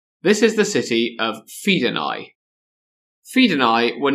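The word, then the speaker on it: Fidenae: The trap he'd set worked and the men of Fedai were goated into battle. You do know that AE is not pronounced like that, right? Uh, is it Fed?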